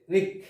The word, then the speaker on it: wreck: তারপর হচ্ছে রিক। রিক, এখানেও কিন্তু ডাব্লিউ অক্ষরের উচ্চারণ হয়নি। রিক।